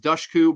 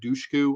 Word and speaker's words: Dushku: I know it's pronounced Dushku, but I always said Dushku.